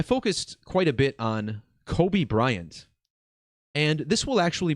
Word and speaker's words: Kobe: crash in memory now the name Kobe rhymes with Toby and this will lead